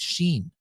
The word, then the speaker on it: Shein: Marketplace that's Making Waves Sheen uh I believe is the way you pronounce it in the U.S and in other countries and might be something